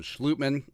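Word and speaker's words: Schlottmann: some guard he got austin schlutman uh dutch pronunciation they got only udo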